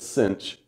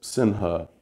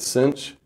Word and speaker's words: sinh: for hyperbolic it's pronounced when people say this out loud they say it as though there's also a c here everyone says cinch um because Sinha just sounds stupid um